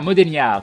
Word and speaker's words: Modegnar: C'est Modegnar avec prononciation Niar. Ah, Modeniar, ça marche. Modeniar, très très bien.